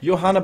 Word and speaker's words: Johanna: course Johanna and yeah Johanna by the way I'm pronouncing her the German Way with a soft y instead of a j because man that's the